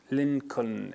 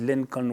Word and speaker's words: Lincoln: These are the names with unpronounced letters could be transcribed wrongly and literally by the students, like Lincoln in Abraham Lincoln.